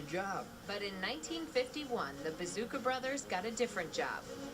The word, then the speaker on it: Bezouska: fans our name is bazooka cut the S off at its present pronounced bazooka so we were known